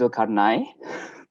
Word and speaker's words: Okanai: been second day but my name's still not been pronounced correctly um it's okanai i'm sorry for having